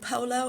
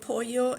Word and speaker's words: pollo: If you keep saying polo instead of pollo, it's going to get ingrained in your brain, and you're not going to be able to change it over.